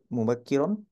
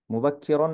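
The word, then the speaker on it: مبكرا: রুন এবার বুঝতে পেরেছি মুবাক্কিরন মুবাক্কিরন মানে হচ্ছে কাফের নিচে হচ্ছে কাসরা এই যে তাসদিদের নিচে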